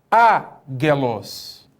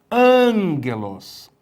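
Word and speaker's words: ἄγγελος: Ele vai ter um som nasal, ou seja, ao invés de você falar agelos, está errado, agelos, está errado. Você teria que ler angelos, angelos. Por quê? Porque esse primeiro gama, né, ele vai nasalar.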